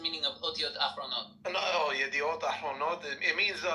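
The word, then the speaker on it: ידיעות אחרונות: Yada'ot Yahronot. No, wait, you're saying it wrong now. So you said the second word wrong. So the first word is Yediot. Yediot Ahronot. Ahronot, not Yahronot. Not Yahronot. Ahronot.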